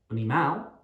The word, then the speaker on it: animal: Animal, animal, the stress is at the start on the A. We don't say animal or animal, animal.